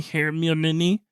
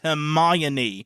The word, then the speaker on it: Hermione: Harry and Ron, is like, have you seen Hermione? Have you seen Hermione? Like he keeps mispronouncing her name. And then Ron is like, no, it's pronounced Hermione.